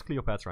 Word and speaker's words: Cleopatra: don't know that's uh there's different pronunciations of the name Cleopatra I think it's Cleopatra in English in in Dutch we say cop just slightly different emphasis but it's like the same thing is it too